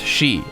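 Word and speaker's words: 四: 4 is considered unlucky the Japanese number for forests pronounced sheet and it sounds similar to the word death which is also pronounced Shi Tech is likely based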